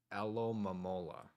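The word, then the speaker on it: Alomomola: Alolola. Um, that's how you pronounce that. It's alamola.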